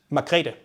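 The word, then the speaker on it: Margrethe: I remember learning somewhere that the former queen of Denmark, uh, how do you say the name? Margaret. Margaret. Margarita. Margarita. Margarita. The English version would be Margaret, right?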